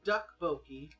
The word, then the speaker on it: tteokbokki: So Look, the tteokbokki looks more like it's been kind of deep fried, it's more like pronounced duck boki.